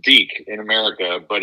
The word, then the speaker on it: Deke: Well, first of all, just in case we have any Spanish-speaking listeners out there, it is pronounced Deke in America, but it's spelled D-E-K-E.